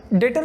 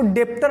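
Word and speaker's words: debtor: डेटर कौन है? अच्छा, ये ध्यान में रखना, इसको डेप्टर नहीं बोलते, बी साइलेंट है, डेटर बोलते हैं।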